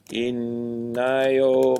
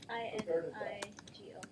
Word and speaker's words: Inigo: and add more content, hello, my name is Inayo. I don't know how to spell that. Do you know any of you guys? Okay. And let's see. Inigo.